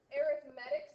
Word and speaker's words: arithmetic: time, those are called arithmetic sequences. Doesn't that make you sound so fancy when you say it like that? We don't say arithmetic sequences.